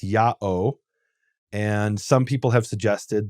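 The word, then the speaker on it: ΙΑΩ: written Yota Alpha om om GA which is pronounced yaho and some people have suggested that that is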